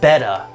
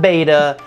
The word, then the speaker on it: betta: betta aquarium and yes it is in fact betta b-e-t-t-a not beta it is betta so